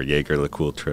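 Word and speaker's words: Jaeger-LeCoultre: So, and during that time, I also reached out to a few brands, Jaeger LeCoultre, or Jaeger LeCoultre, as we say in the U.S.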